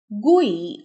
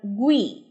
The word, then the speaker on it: GUI: The acronym GUI is pronounced GUI or GUI with a hard G.